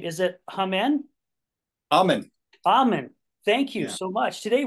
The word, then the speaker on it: Ahmen: say your last name is it hen amen amen thank you so much today we're gonna be